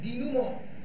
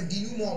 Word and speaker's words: denouement: Resolution means ডিনুমো, DENOUEMENT, pronounce হয় ডিনুমো বলে, French word, মানে গল্প শেষ হচ্ছে ম্যাকবেথের মৃত্যু দিয়ে।